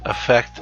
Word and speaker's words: effect: And the initial vowel of those words sound very similar, so it's hard to hear the difference, but I'm sure that you know what I'm talking about. The AF-FECT and the EFF-ECT.